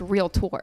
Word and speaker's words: realtor: And it's just realtor, like you're touring it for real.